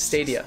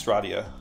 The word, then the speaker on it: Stadia: You're pronouncing it wrong. It's Stadia. It's Stradia. Stradia? No, you're totally just destroying it.